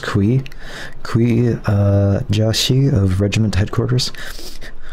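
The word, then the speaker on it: Cui: How do we pronounce the C? It's just Kui.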